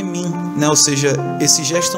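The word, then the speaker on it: 明: São dois ideogramas que juntos formam o ideograma Brilho, mas a pronúncia desse ideograma é Min, né?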